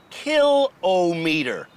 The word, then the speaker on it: kilometer: I've been pronouncing the word kilometer incorrectly it's pronounced kill o meter writes Robert Spears a speech coach from Halifax